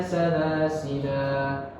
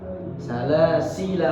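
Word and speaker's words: سلاسلا: Yang pertama tadi dengan memanjangkan la-nya, ya, dengan memanjangkan la-nya, salasila, atau dengan mensukunkan la-nya. Inna a'tadna lil kafirina salasil wa aghlalan wa sa'ira. Seperti itu. Ketika berhenti ada dua cara baca.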